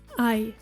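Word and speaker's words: Ei: as in the word lead lead meaning song I I it is a word on its own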